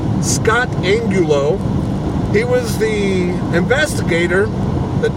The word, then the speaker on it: Angulo: that the investigator Scott in Gulu I think that's how you say it his that last name is spelled a in G you Elmo Scott Angulo he was the investigator